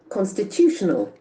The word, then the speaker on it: constitutional: give the accent and we'll see this word constitutional constitutional you can see constitutional constitutional bullying constitutional constitutional Action Falls from the third syllable constitutional connected with Constitution okay then comes